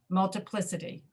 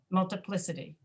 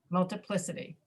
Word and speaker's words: multiplicity: It should be multiplicity, right? But we don't speak that way. We say multiplicity, multiplicity, multiplicity.